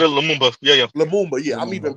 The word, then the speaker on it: Lumumba: You said it, Lumumba.